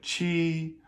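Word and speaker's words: qi: Like with the letter I, for example, when it follows a Q, right? It's like chi like in the the number seven, right? Um or with the four tones, it's chi, right?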